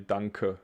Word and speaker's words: danke: that you say really danke and not dank you have to pronounce the e well that's it we